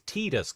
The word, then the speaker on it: Tidus: Uh pron pronunciation is Tedus. Comes from teta equals sun.